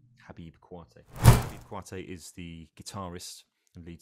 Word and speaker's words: Koité: from mali uh called habib kwatei okay i'll spell that second name it's k-o-i-t-e khabib quartet is the guitarist and